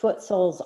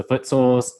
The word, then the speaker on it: Footsouls: And so then I came up with the whole branding along with so Footsouls, if you don't know it, it's spelled SOULS, like your soul.